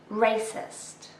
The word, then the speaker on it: racist: Racist. This is an adjective with 2 syllables and we stress the first one.